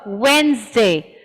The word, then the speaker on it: Wednesday: the sound here is wednesday so this door gets dropped and we say it as wednesday wednesday between two consonant